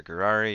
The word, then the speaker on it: Gurari: You pronounce it like with a G, the word Ferrari, so like the car company. They got an F there, Ferrari. Just replace that with a G, you get Gurari.